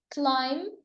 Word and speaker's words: climb: The letter B is silent in lamb, climb, and Tom.